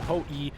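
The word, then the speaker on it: Ho-I: we also upgraded to the hoi or ho e as somebody comments on me to pronounce it ho e number two which is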